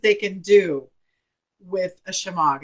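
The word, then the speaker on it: shemagh: by four foot and it's called a shema chamog is how it's pronounced and or you can call it i'm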